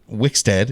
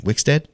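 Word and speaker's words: Wixted: last thing I mean wickstead is how I would say it's w-i-x-t-e-d wickstead yeah sure but someone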